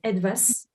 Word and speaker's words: ETWAS: So it's pronounced ETWAS because it is the German name for something, and it was a